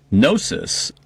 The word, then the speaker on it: gnosis: But gnosis, but spelled with a G, Gnosis, is the sacred wisdom and kind of mystical knowledge. So that's kind of interesting that the pronunciation, like hypnosis, True story.